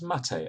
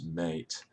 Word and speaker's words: maté: with an acute accent, so that people read it as Maté and not mate.